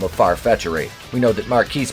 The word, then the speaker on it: Marquise: visit to mommy dearest Jada Jet and tells her that Marquise, pronounced Marcus because he's fucking stupid, hates Batwoman as much as you do.